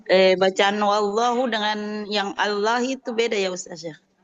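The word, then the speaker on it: الله: Oh, jadi patokannya dalam membaca lafaz Allah itu kalau huruf sebelumnya itu berharakat fathah atau damah maka lamnya tebal. Tapi kalau huruf sebelumnya kasrah kayak bismillah ya kan bismillah juga itu lafaz Allah tapi kan kita bacanya enggak bismillah ya tipis ya ustaz enggak tebal. Iya karena huruf sebelumnya kasrah seperti itu.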